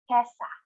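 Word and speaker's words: 今朝: Now, for this morning or earlier today, kesa. Again, kesa for this morning. Now slowly, per syllable, kesa, this morning.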